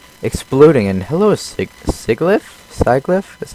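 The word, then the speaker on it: Sigilyph: do they just like exploding and hello Sig sigli sliff is how you you pronounce the name of that one down there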